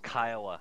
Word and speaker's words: Kiowa: Kiowa yeah copy Nelson you Georgian hick it's pronounced Kiowa Sharpie my guys are lined up on your